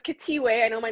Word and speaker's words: Khethiwe: you yeah okay well thank you so it's katie way i know my name is a little different to pronounce okay i love the name i love